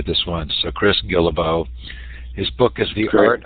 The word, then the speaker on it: Guillebeau: it you know Steve everybody says it a different way and I learned what to correct them so I actually say Gila bow it's kind of the